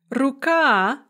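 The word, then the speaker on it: рука: words with two syllables, that are stressed on the second syllable in the singular, and then the stress shifts to the first syllable in the plural. So okno, window, becomes okna, windows. Ruka, hand or arm, becomes ruki, hands or arms.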